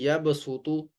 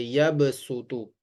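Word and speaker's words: يبصط: क्या मतलब है कि हमने सद की जगह पर सीन को पढ़ना है ठीक है तो इसको इस तरह से पढ़ेंगे यब सुत यब सुत स्वाद को मोटा पढ़ा जाता है और सीन को बारीक पढ़ा जाता है लिहाज यहां पर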